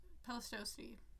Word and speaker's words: Pleistocene: I already know I'm pronouncing all these wrong. Pleistocene.